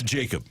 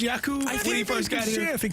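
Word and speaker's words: Jakub: listening to Blues hockey it's Jacob if you tell us it was yakoo things change okay yeah so it is Jacob it's Jacob so no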